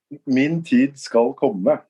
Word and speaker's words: Min tid skal komme: Can you give the correct pronunciation? Min tid skal komme. Min tid skal komme.